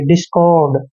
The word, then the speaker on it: discord: डी का उच्चारण डे करते हैं, आई को ई की मात्रा पढ़ते हैं। एस का उच्चारण शे करेंगे, यानी कि डिस। CO का उच्चारण कै और ओ की मात्रा करते हैं, आर को रे लिखते हैं और डी को डे।